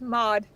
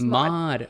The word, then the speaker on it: Maude: pronounce the brand right no it's mod just mod okay that's that's much